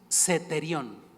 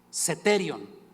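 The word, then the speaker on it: αἰσθητήριον: fácil pronunciación Por cierto ahí seterión seterion porque Tienes acento en la e saben qué quiere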